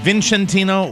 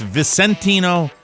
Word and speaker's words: Vicentino: It's not Vincentino, or it's Vicentino. Vicentino, I think, yeah. What is it? With a soft C.